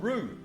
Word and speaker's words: Whroo: On this occasion, we're off to an old gold mining town called Rue and that's spelled WH HR O and is a locality in the sh of Strathboi and SH of Campbby, Victoria, Australia.